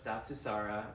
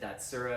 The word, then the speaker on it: Datsusara: And so it's Datsusara, hard to pronounce. The first time even Joe Rogan mentioned us, I think he said Datsusara.